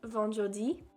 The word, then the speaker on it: vendredi: Friday is pronounced vendredi.